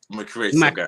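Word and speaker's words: McRay Sogah: How do you pronounce it? No, I don't want to mess That's it it. up. So McRay Soga.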